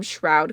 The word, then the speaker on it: Shroud: loud shroud Shroud okay everyone was telling me in my last video that it rhymes with cloud and crowd shroud shroud that sounds